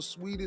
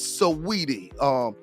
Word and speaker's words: Saweetie: Some call her Sweetie, some call her Saudi. The way it's pronounced and spelled to me is Saweetie.